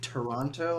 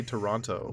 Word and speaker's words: Toronto: We don't pronounce the second T. We don't say Toronto. We say Toronto.